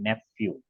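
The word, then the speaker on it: nephew: पी एच ई डब्लू नेफ्यू इसका pronounce याद रखना इसको नेफ्यू बोलते हैं आप जो बोल रहे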